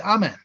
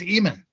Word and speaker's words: Amen: contemporaneously or after the name of the Hidden God Amen is pronounced amen except Ethiopia where it's pronounced demon these egyptologists in their Infinite Wisdom decided the correct pronunciation was Eamon when they do that